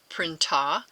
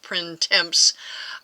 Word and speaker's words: Printemps: this one right here, which is called Printa, which is spelled Printemps, which I would think could be pronounced Printemps, but it's a French word that means spring.